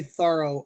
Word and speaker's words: Thoreau: early but you know my mom is 86 and even she says thorough now so you know if